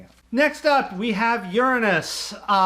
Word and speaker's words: Uranus: next up we have Uranus there's preferred pronunciation um the other one just leads to way too many jokes uh this was not